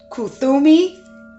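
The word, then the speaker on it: Kuthumi: to spell some of these names let's say kutumi k-u-t-h-u-m-i cloak and wisdom so we're getting another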